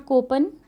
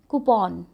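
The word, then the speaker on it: coupon: इट्स नॉट कूपन, इट्स कूपन, ठीक है।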